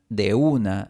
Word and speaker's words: de una: En la cuarta línea, de una se pronuncia en 2 sílabas.